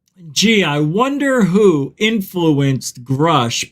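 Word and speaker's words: Grusch: I wonder who influenced grush by the way is how you say his name not Grouch well the reason I know how you say his name because he introduced himself as grush I find it hysterical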